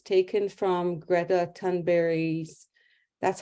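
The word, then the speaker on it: Thunberg: is a powerful image it's taken from Greta turnberry's that's how she pronounced it her name uh not tangberg so it's taken from her book it's called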